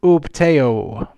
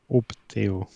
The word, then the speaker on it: Upteo: You must say his name correctly for a start. His name is Upteo. Upteo.